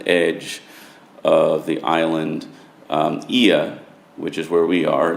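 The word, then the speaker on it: Oia: on the edge edge of the island um IIA which is where we are that's spelled o i a but pronounced IIA is uh perhaps the most picturesque of those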